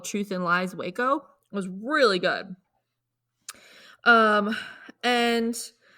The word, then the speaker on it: Waco: week's episode Ashley's going to be talking about Waco that's how you say it right yes ma'am